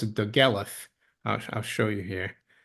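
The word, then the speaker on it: Dolgellau: uh it's spelled doala but it's actually you pronounce it dth I I'll show you here it's that's the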